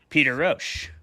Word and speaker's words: Peter Rosch: Our debaters tonight are going to be Jeremy Hudson and our guest, Peter Rosch. Peter, thank you so much for coming on the show, man. I am pronouncing your name correctly, I hope.